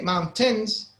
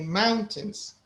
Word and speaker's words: mountains: We don't say mountains, we say mountains. Mountain. Right? The first one is a little stronger, is a little louder or more stressed.